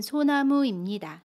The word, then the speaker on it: 소나무입니다: 이것은 소나무입니다. 여기에서 소나무입니다를 보면 소나무의 모음 우와 입니다의 임이 만납니다. 마찬가지로 두 가지로 발음할 수 있습니다.